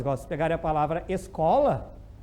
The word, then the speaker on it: escola: Igual se pegarem a palavra escola, o SC já não é dígrafo, porque daí tu pronuncia os dois. Pronuncia o S, o S, es, e pronuncia o C como se fosse um K, né? Escola.